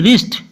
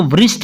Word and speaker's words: wrist: WRIST रिस्ट, कलाई होती है, इसको वृष्ट नहीं पढ़ना, रिस्ट पढ़ना है।